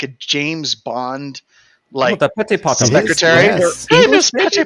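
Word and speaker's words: PetitPotam: The first one that I want to talk about is the Petty Palm. Petty Palm vulnerability. Am I pronouncing that right?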